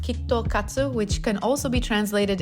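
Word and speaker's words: キットカット: KitKats in Japanese are pronounced kitto katsu, which can also be translated into you're bound to win or never fail.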